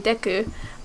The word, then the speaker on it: Deku: ways okay um and it's actually in Japanese it would be Deku but I've always said diku because I am a